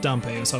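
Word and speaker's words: Dampé: name but I mean the little accent would assume that dump ASI was pronounced right okay Shaq is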